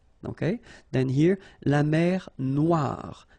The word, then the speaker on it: noire: Okay, then here, la mer Noire. Same thing here that we had previously. Final not pronounced, okay, and then OI, remember, wa, noir.